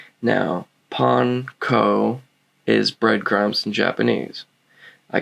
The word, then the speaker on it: panko: with panko excuse me now yes it is pronounced panko is it annoying kind of but that's just how it's pronounced all right j panko is japanese breadcrumbs all right now pon ko is breadcrumbs in japanese i can only imagine